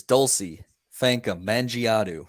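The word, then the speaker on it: Dulcy Fankam Mendjiadeu: So my Bella of the week is Dulcie Fanka Mangiadu.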